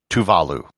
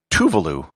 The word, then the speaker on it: Tuvalu: the way it's pronounced tuvalu with the accent on the second syllable not tuvalu with no syllable accented tuvalu lies in the south